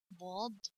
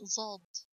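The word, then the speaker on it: ذال: Some students pronounce this letter when they come to me and they got a little background about letters. They say or pronounce it zald. No, it's bald, not zald.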